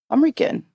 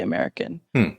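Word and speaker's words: Amrikan: recipes from the Indian American diaspora. Oh, amazing. Okay, so first of all, I already pronounced the title of your book wrong because I said American, but it's American.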